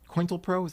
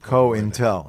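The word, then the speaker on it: COINTELPRO: roots of the point quintal pros thought he pronounced a quintal pro intel cohen tell program yeah Intel yum Co Intel exactly like how do you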